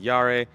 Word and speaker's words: Jahre: I'm pronouncing Yara wrong that's what I saw Motor Trend j-a-h-r-e's how it's spelled German that's year which is yare and this is a